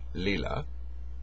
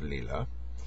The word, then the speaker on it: Lila: there's the phenomenon of I think it's pronounced Leela although I've heard it pronounced Lila a lot l i l a where the universe is